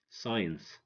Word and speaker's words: science: it comes after I seen science scenario so many people don't think that C is silent because you know we say C in scenario science but in fact the see here is silent the see here is silent because it comes after the letter S and s is stronger 17 come climb to